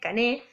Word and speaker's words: Cané: Ingenieros, en un momento, primero piensa como en tomar a un pensador que es anterior a él, que es Cané, C-A-N-E, acento en la E, Cané, que plantea que hay un círculo social dominante, ¿no?